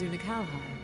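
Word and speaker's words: Unei: dreams of heroism as unai unhigh okay that's how you say his name okay I can remember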